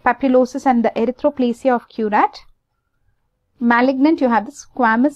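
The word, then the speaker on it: Queyrat: Then you have the erythroplasia of curat. Let's see how it's pronounced.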